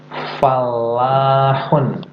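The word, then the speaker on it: فلاح: Dibacanya gimana? Falahun. La-nya itu ada tasdidnya ya. Falahun.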